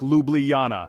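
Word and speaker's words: Ljubljana: the Julian Alps lies Luana now don't be intimidated by the pronunciation just think lublana and get ready to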